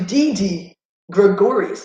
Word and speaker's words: Didi Gregorius: oh my goodness it's a one-two count to didi Gregorius that's how you say his name last time